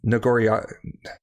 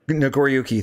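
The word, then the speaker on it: Nagoriyuki: thinking of uh gosh I could never pronounce his name um nagoria nagori hello Gordo Yuki nagoriuki thank you uh the Samurai with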